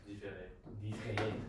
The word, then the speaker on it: différer: différer.